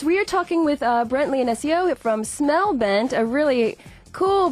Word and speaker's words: Leonesio: Am I pronouncing that right? Yes, Leonesio.